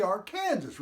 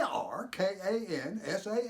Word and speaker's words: Arkansas: Arkansas the we wait call it the Arkansas River which is the way it's spelled and our kan si yes but you pronounce